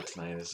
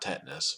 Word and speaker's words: tinnitus: Well, I've been researching nuclear batteries, tinnitus to help my father out. Or, yeah, tinnitus is a way to pronounce it. Not tetanus, but tinnitus or I don't know what the other way to say it.